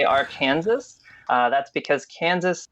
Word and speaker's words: Arkansas: the state of Kansas we still say Arkansas for the state but we say AR Kansas for the river that's unique to Kanas